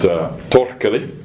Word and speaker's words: Torkeli: designer selling on Etsy called Torkeli. I know that's the right pronunciation because my wife is Finnish and I speak Finnish.